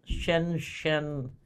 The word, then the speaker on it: Shenzhen: And just as a reminder, PACS's corporate headquarters are in Shenzhen, China. I think that's how you pronounce it.